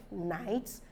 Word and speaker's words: knight: nights you see that GH is not pronounced K is not also pronounced that's why we have this Knight as synonymous or rather a homophone to n-i-g-h-t because they sound alike but different spellings and meanings now we have not